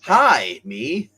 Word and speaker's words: Jaime: basically Miles Morales wow the fact that his name is uh Jamie and they call him Jaime because they don't want to pronounce it no no it's how they pronounce it hi me Dave Dave I gotta